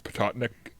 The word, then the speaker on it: Patuxent: They come up the I can never pronounce the word, and I've driven over that river 100 times. Patuxent River.